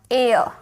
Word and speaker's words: air: ये हमारा सेकेंड है, यदि किसी वर्ड में AI के बाद R आए, ठीक है, यहाँ पर बोला गया है AI के बाद R आए तो AI का उच्चारण ए में किया जाता है, ए।